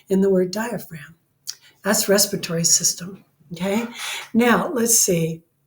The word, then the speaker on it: diaphragm: Diaphragm, so you can remember where that silent G is in the word diaphragm.